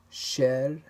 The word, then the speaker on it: cher: A letter C, R, F, or L at the end of the word usually is pronounced.